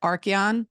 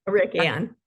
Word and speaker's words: Arikian: Is it Archeon? No. Arikian. Arikian.